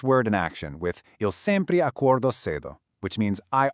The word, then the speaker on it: sempre: The word is sempre, which translates straight to always. Take a look at the phonetic pronunciation there, sempre.